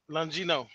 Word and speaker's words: Longino: Longino.